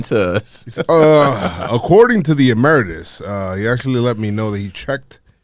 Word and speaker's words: emeritus: Emeritus, or I don't know how to pronounce it. I'm definitely saying it wrong, guys. Nah, we always say it wrong. No, it is emeritus.